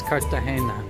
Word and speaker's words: Cartagena: beautiful Cartagena let me pronounce the G as an H and the E is an A so it comes out as Cartagena our first stop